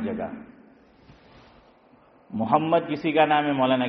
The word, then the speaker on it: محمد: صحیح اس کا تلفظ جو ہے وہ کرو, اور صحیح تلفظ بھی محمد میم پہ زبر نہیں ہے, کیا ہے, میم پہ ضمہ ہے, میم پہ پیش ہے, تو پیش پڑھنا ہے.